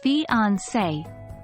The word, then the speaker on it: fiancé: accent mark on the letter e it is pronounced as fiancee a fiance is the term used for a